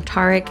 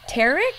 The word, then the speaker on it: Tarek: It is JR here, and I am here with Tarek. Is that how you say it? Well, it's Tarek, but close enough, I'll take Tarek.